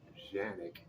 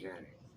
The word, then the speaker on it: Canik: If I'm not mistaken, I'm not sure how that works, but it is a Turkish gun, and it's actually pronounced Janik in Turkey, and here we call it Canik.